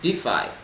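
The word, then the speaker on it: DeFi: decentralized finance solutions or d e f i pronounced defy to its users so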